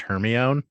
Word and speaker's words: Hermione: last 20 years okay first of all it's pronounced Hermione so I would say people are people can